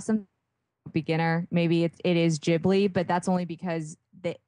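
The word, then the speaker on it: Ghibli: so okay okay I think any of the jibli movies the studio jibli films are really amazing and those are I I want to say if if you have some beginner maybe it is jibli but that's only because the the topics vary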